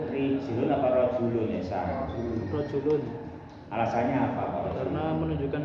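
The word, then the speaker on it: رَجُلٌ: Mislu, contoh, rijlun apa rajulun, bacanya itu nugroho jawabannya bukan rijlun.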